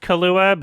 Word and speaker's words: Kaluuya: we were both wrong k-a-l u-y-a it's almost kahlua but it's like yeah at